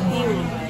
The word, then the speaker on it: gyros: Ee-ro, Ee-ro. Tzatziki is a sauce made with yogurt. It is spelled gyros, but the pronunciation is closer to Ee rather than G. But English-speaking people call it 'jai-ro' If Octopuses have about twenty legs, not eight.